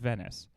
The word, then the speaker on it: Venice: Venice rhymes with penis.